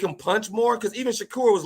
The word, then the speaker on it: Shakur: Shakur. It's Shakur, damn it. Get it right, Gary. Okay, whatever. I just like your pronunciation better than mine, bro.